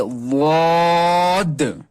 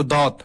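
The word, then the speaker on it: ض: Touch کرنا ہے، یہ واد۔ کچھ لوگ پڑھتے ہیں اس کو دات، دات نہیں، یہ ہے واد۔ پھر ہے طا، پھر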